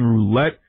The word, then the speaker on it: Rolette: one the only roulette just like the roulette wheel right absolutely that's